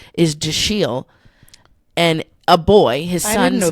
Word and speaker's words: Dashiell: Thomas Howell, and one of his children's names is Dashiell. And a boy, his son's name is his son's name is Dashiell.